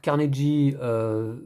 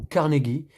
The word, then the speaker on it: Carnegie: Alors Carnegie, prononciation française, ou Carnegie en prononciation anglaise.